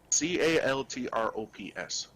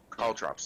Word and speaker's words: caltrops: I pronouncing that right I don't know how it's spelled c-a-l-t-r-o-p-s caltrops call drops thank you there's a little spiky things I